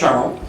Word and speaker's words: Charron: And my grandfather was from La Provence, so it's properly pronounced Charron, except for the fact that I was born and raised in Windsor, and now live in Toronto, so nobody says that. They say Charron, so I'm not Charron.